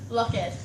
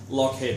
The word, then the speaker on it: Loughhead: Loughhead. Loughhead. Nothing like it's spelled. Nope. Sorry, Mrs. Loughhead, it's not spelled that way.